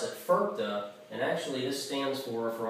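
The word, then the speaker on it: FIRPTA: It's actually an acronym, and I pronounce it FERPA.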